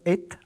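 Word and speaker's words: את: L'accusatif en hébreu, le complément direct, est indiqué par une petite particule qu'on prononce et, Aleph Tav, la première et la dernière lettre de l'alphabet, pour indiquer que ce qui vient appartient au tout.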